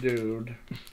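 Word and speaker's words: Doodh: Haldi Dude. Golden milk. That's D-O-O-D-H, dude. You know. Is that how you pronounce that?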